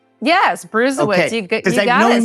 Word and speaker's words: Brusewitz: Yes, Brusewitz.